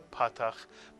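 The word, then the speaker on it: פַּתַח: Both the kamatz and the patach make the vowel sound ah, as in the word father.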